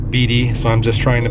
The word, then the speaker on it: Beatty: nevada or beatty b-e-a-t-t-y i've heard it pronounced bd so i'm just trying